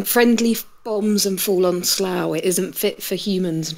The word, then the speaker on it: Slough: And Slough is spelt SLOUGH, by the way. Rubber band. We spell things how they don't sound.